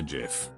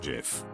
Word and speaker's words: GIF: height he invented the GIF then he won a Webby award for it Webby award speeches are only allowed to be five words long he went up and said it's pronounced GIF not JF a